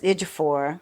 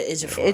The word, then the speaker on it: Ejiofor: So you just have to look at it like chew instead of chi with the I.